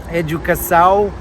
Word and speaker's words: educação: So if you see that little squiggle under the C, C for Cedilia, the C is pronounced with the S noise. Also, if you see that wave on top of the A, you'd pronounce that with the nasal noise, ow. So educação. So how would you pronounce this word, guys?